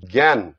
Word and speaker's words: জ্ঞান: জ্ঞান শব্দটা লেখার সময় সর্বপ্রথম যে বর্ণটা আমরা ব্যবহার করেন সেইটা হচ্ছে বর্গীয় জয় ইয়, কিন্তু আমরা উচ্চারণ করি জ্ঞান। জ্ঞান শব্দটা শুনতে, জ্ঞান বা যোগ্য শুনতে কিরকম লাগে, গয়ে জফলা, কিন্তু এটা উচ্চারণ হবে জ্ঞান।